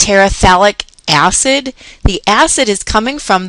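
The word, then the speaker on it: phthalic acid: i c a i talic acid talic acid and what happens here is that this pH is silent talic acid I wanted to make this note this pH is silent so we just simply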